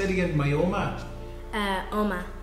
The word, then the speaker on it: Oma: My Oma? Oma. Oma, like an old man.